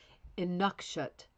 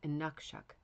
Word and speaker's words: Inukshuk: Inukshut. Oop, I almost said a bad word. Inukshuk. Inukshuk. Inukshuk. Hopefully that, I think maybe that's better, Diane, do you think? Inukshuk. Emphasis in the middle syllable.